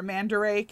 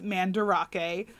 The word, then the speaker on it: Mandarake: real quick is um mandarake or mandarake as i i've been saying but apparently i've been saying it wrong it is mandarake um it is a